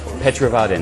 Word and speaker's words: Petrovaradin: You have to tell me how to pronounce it. The fortress. How do I say that? Fortress. The fortress. It's this fortress. Petrovaradin. That's it. It uses the Petrovaradin fortress, but everybody all over the world knows about Exit.